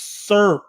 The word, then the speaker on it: SERP: gavin or it's no it's not serp it's serp in fact i'll put it up on the screen here it's spelled s-e-r-p serp terms what does that